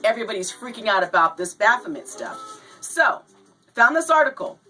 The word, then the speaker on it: Baphomet: don't know what this is it is a Baphomet that's how you pronounce it it is a Baphomet statue and